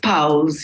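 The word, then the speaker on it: Powls: How is it pronounced? It is Powell's, Your Honor. Oh, Powell's.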